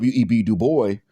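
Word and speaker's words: Du Bois: reation his former foe web du boy or he he pronounced it Duo he stated this in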